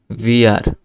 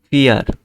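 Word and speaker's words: vier: ফিয়ার, ভিআর না, এটা ফিয়ার। যে ভি কে উচ্চারণ কি হবে? আমরা আবার ফিরে যাই। এই যে ভি, ভি এর উচ্চারণ হবে ফাও, সেজন্য ফ উচ্চারণ হচ্ছে। এই জন্য এটা হচ্ছে যে ফিয়ার।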